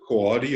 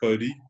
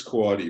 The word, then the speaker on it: Coady: at a correction, but I think you pronounce it Coady. I always want to say Cody, but I think it's Coady.